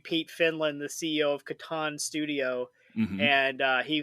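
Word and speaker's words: Catan: the settlers of how do you say it Katon there you go all right is there another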